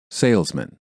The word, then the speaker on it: salesman: Even though the ending of the second word is spelled exactly the same as the first word, the vowel is pronounced differently because it is part of the reduced syllable. Man. Salesman.